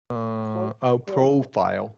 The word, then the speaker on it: profile: Long, yes, we can get that long O. Profile.